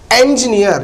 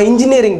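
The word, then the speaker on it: engineer: இன்ஜினியரிங் சுக்னியரிங் எல்லாம் கிடையாது அதனுடைய உச்சரிப்பு என்ஜினியர் ஐ அம் N mechanical இன்ஜினியர் ஐ அம் a mechanical என்ஜினியர் என்ஜினியர் that is நாட் இன்ஜினியர் இஞ்சி உச்சரிக்க கூடாது ஏன் இப்படிதான் என்ஜி என்ஜினியர்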